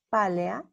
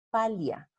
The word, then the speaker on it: pálea: En latín clásico, la transcripción fonológica sería pálea con 3 sílabas, pero en latín hablado, por tendencia antillática, tengo que en lugar de pronunciar pálea, igual que sucede con teatro, los hablantes muy probablemente pronunciaban palia para simplificar la articulación.